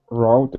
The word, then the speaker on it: wrote: Yeah, it's just an R. That W is is silent. We don't pronounce it.